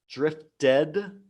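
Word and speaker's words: drifted: the D sound murmured drift dead that has the edge sound we don't say murmur read we say murmured but here with drift we say drift dead because it ends with T and then we have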